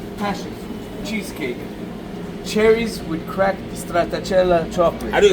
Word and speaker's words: stracciatella: Cherries with cracked stracciatella chocolate. How do you say it again? I want to test you on that. Stracciatella.